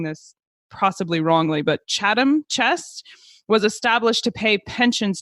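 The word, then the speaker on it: Chatham Chest: Additionally, just two years before we think Shakespeare wrote Richard III, the and I think I'm pronouncing this possibly wrongly, but Chadam Chest was established to pay pensions to disable men.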